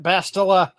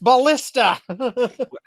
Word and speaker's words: ballista: with some form of my favorite bastila what if we made them look like why do you have me mispronouncing it ballista I I knew that and I said it wrong I like your version